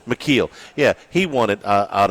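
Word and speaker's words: Micheel: McKeel.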